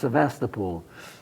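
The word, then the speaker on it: Sevastopol: seem to remember hearing it said no it's Sebastapol even in Russian it's svasta pool yeah how would you pronounce it sast get in where did you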